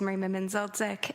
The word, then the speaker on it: Merima Menzildzic: My name is Merima Menzildzic, and I'm a legal caseworker at the Hamilton